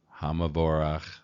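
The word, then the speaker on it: חמור: is is vocal so this would actually be pronounced ha hamor again you don't know that you don't know the rules doesn't matter you could say ham VOR hamor either one it'll be understood all right 25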